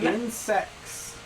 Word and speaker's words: insects: Insects. No, there's a T in Insects. water. Water has a T in it. Insects. It's a quiet T.